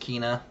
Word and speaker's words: Kena: That Kena, I think it's pronounced Kena, Bridge of Spirits, that's made by the studio.